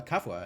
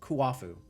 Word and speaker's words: Kuafu: I wonder if I can take it to Kafua and have him make something out of it. Or Kuafu. I keep getting his name wrong. Kuafu. The U's are doubled, not the A's.